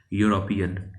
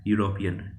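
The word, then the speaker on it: European: यूरोपियन, यूरोपियन, ठीक है। य की आवाज़ आ रहा है, ठीक है, य की आवाज़ आ रहा है तो वो कंसोनेंट साउंड है एंड इसके आगे आएगा, ठीक है।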